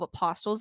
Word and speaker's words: apostle: Peter was one of the 12 apostles of Jesus Christ, and he was considered to be the first pope of... Are you fucking done? The T isn't pronounced.